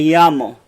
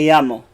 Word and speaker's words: llamo: if you notice this that double L is a Y sound hola me llamo hola me llamo hola me llamo